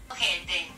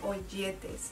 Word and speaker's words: ojete: Ojete. Sí, entonces la palabra es ojete. Yo creo que yo les he estado diciendo oyetes. estoy pronunciando la J como Y, discúlpenme de verdad si se han fijado en eso.